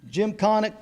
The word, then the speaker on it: Gymkhana: in, I'm going to mess, how do I pronounce that? Gymkhana. Gymkhana contesting.